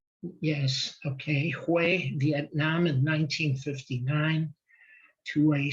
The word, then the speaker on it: Hue: Now, Cam was born in Hue. Cam, am I pronouncing that right? Yes, okay. Hue, Vietnam in 1959 to a South Vietnamese Army nurse.